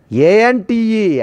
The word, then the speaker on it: ante: All these prefixes, there are two words are there, anti, both are same pronunciation. ante, anti, anti, anti.